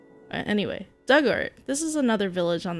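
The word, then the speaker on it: Dugort: Pronunciation Doug like the past tense of dig. Ort rhymes with hurt. Duggart.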